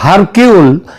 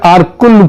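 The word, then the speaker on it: Hercule: আঘাতা কৃষ্টির যে গোয়েন্দা আরকুল পোয়ারো তার তত্ত্ব অনুযায়ী আঘাতা কৃষ্টি এবং তার গোয়েন্দা আরকুল পোয়ারো এটা যদিও ওই উচ্চার উচ্চারণে এটা হয় হারকিউল কিন্তু একচুয়ালি উচ্চারণটা হচ্ছে আরকুল পোয়ারো তিনি যদি আজ বেঁচে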